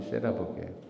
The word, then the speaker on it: 세라복: 세일러복을 일본식 발음이 세라복이에요.